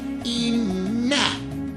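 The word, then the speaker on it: إِنَّ: Yang pertama ada kata inna. Inna ini nunnya bertasdid maka dibaca hungunna atau de dengung inna.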